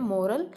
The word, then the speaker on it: morale: मोरल, MORAN, एंड एक और word होता है इसी से थोड़ा सा रिलेट करता है, मोराल, MORALE, उसकी स्पेलिंग अलग होती है।